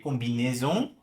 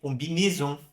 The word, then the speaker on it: combinaison: Nas regiões mais ao norte da França, a pronúncia é mais fechada. Então, em vez de ler combinaison, eu poderia ler combinaison. Combiné, como se fosse esse E aqui, ó, né? Do ET.